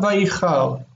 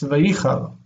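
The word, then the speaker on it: וַיִּחַר: Vayichal, it's not vayichal, it's vayichal. Okay, the accent is on the penultimate.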